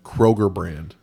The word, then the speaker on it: Kroger: Uh Kroger brand is second uh best via How do you say that again? Kroger brand. Oh, not Kroger's brand. No, it's not Kroger's.